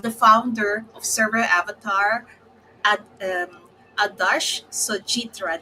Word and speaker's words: Sojitra: Anyway, I'm here, and today I have the founder of ServerAvatar, Adarsh Sojitra. Did I pronounce the last name correctly? Yeah, yeah, you Sojitra. pronounce it Okay, correctly.